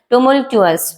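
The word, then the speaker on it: tumultuous: टुमुलचुअस। टुमलचुअस क्या होता है? इसका सही प्रोनंसिएशन है टुमलचुअस।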